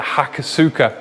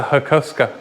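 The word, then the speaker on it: Hakosuka: the mar Skyline and they call it the hakas sua when it's the hakusa hakas I do not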